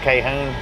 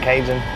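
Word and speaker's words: Cajon: got over so it's actually pronounced Calhoun not Cajun k-home let's go to the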